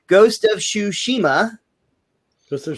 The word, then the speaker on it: Tsushima: Ghost of Tsushima. Ghost of Tsushima. Yeah, there you go. That's pretty close. I'm getting better. You're pausing too much in the middle of the word.